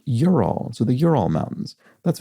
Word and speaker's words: Ural: Mark Owens says, just like Ute, UTE, is pronounced Ute as though it had a Y. Ural, Ural, which I mispronounced Ural, as in the Ural Mountains, is pronounced Ural.